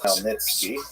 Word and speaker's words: Khmelnytsky: It's actually pronounced Khmelnytsky with a good beginning.